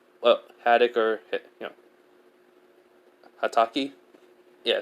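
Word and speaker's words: Hatake: Well, Haddock or, Hataki? Yeah, it's Hataki. I don't know why I say Haddock.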